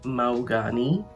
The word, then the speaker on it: Mahogany: all lit up and in walks mahogany uh or as she tells him to pronounce it maugani okay and he asks